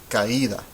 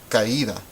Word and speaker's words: caída: You should hear 3 syllables. Ca, I, and da.